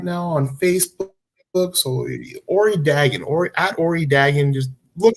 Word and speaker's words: Dagan: If you don't know Ori Dagan, or Dagan, I think his name is pronounced, he's a very charismatic band leader, vocalist, local personality, promoter.